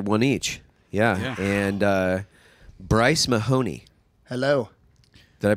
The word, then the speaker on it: Mahoney: be here sergeant-major one each yeah and Bryce Mahoney hello did I pronounce that right you did okay there we